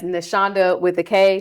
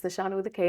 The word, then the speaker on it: Knashonda: I want them to remember that the K in my name is absolutely silent. Seriously though, it's so funny because everybody mispronounces my name, right? So hmm I've started marketing it as Knashonda with a K.